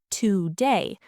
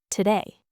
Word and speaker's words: today: Try the word today. Americans don't say today. The two is not important. We turn it into awah. Today.